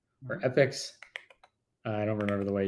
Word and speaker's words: epoch: dates as millisecond uh Epoch or epics I don't remember the way you pronounce it I think it's technically epic but I say Epoch all the time anyway so it doesn't matter all right so of